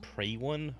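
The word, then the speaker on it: Priwen: once glorious god of pre one oh it's pronounced pre one ok then I've been saying pre one all this time awkward is it a cold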